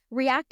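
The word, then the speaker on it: R3ACT: So React is spelled a little differently. It's spelled R with the number 3, A-C-T.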